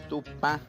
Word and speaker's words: Tupã: Y si vamos a referirnos a la figura de Dios, a la divinidad, es Tupá, con la letra A, la A nasal.